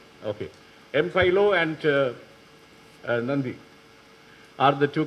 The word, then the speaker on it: Mpilo: Because there was a guy called, how is it pronounced, I don't know, Mpilo? Is it correct? Okay. Mpilo and Nandi are the two characters.